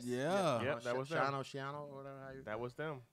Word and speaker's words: Schiano: Shiano, or whatever. That was them. How do you pronounce his name? Greg Schiano.